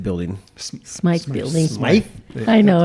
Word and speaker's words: Smythe: in is going to be 8:30 at the Smith Building. Smythe Building. Smythe? I know, it's spelled the same.